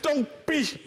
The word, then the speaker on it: Tongpi: Il y en a qui prononcent bizarrement, j'aime pas ça. Madame, qu'est-ce qu'ils disent? Tongpi, j'aime pas ça. J'aime pas ça. C'est Tongpi. Voilà, Tongpi. Comme le mot Tongpi.